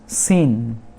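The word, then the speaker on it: scene: फिर सीन। सीन मतलब दृश्य, यहाँ पर भी C साइलेंट।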